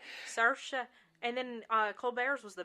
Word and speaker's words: Saoirse: Saoirse. Yeah, she's We phenomenal. actually had to watch a couple different clips just to figure out how to say her name. That's right. Saoirse.